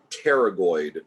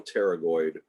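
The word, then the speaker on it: pterygoid: would be the medial teroid the p is silent just like with the word pneumonia pneumonia begins with a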